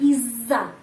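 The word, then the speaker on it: из-за: ya apazdal Izza dajja pronunciation ini pengucapannya Izza Izza double Z Izza di sini d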